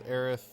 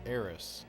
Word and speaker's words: Aerith: Oh, Japanese version is Aerith. English version is Eris. Yeah, but the official spelling of her name is Aerith, not Eris.